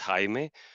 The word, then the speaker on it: Jaime: my name is actually in Spanish it's Hae but uh many people call me Jamie my last name is